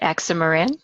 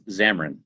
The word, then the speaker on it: Xamarin: right way I hope excimer in is that how do you say the way to say that is xamarin xamarin oh I'm so